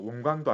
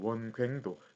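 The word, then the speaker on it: 원굉도: 그런데 이게 참 특이하게도 우리나라 한국 한자음에서는 이거를 넓을 괭으로 해야 돼요. 이거를 괭자로 발음을 해야 됩니다. 예, 광도 아니에요. 원광도 아니고 원괭도.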